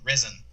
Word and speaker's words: Resn: He used to work at an agency called Resin, which is spelled RESN, and they were down